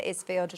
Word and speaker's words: Isfield: Have I pronounced that right, Yes, Isfield? Isfield.